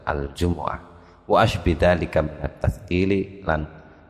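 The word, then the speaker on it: الجمعة: Yang terjadi perdebatan kalau yang sudah mufakat enggak, kalau sudah mufakat enggak, bacanya Jum'ah apa Jumu'ah ya. Yang dipilih oleh Ibnu Abbas adalah Al-Jumu'ah wa asbidalika minat tathqili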